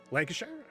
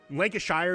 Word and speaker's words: Lancashire: Lancasher. Lancasher. Right. I Lancashire is the American way to pronounce it, but not the right way.